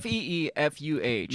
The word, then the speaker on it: FIFA: It's an E, like Spanish.